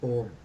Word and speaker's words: Om: That is Om. Om has got three syllables. A, U, Ma.